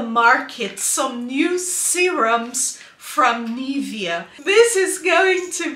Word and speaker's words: Nivea: please excuse me Nivea it is a German company and in Germany it is pronounced as Nivea and this is what I am saying every day Nivea not neria so sometimes I forget